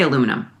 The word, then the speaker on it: aluminum: How do you say aluminum? Aluminum. Isn't the Brits that say aluminium?